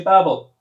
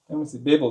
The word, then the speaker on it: Babel: Do you pronounce it Babel or Babel? You say Babel. Babel then.